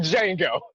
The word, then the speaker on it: Django: I'm like Django. The D is silent.